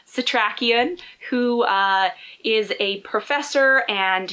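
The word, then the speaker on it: Setrakian: He also meets Abraham, and I learned how to say his name, Satrakian, who is a professor, and he also was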